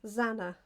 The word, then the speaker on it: Zana: Zaina. Oh, you did tell me how to pronounce it. You might have to tell me again. Sorry. Anna. Zana. That's it. She said it was like Anna, I think.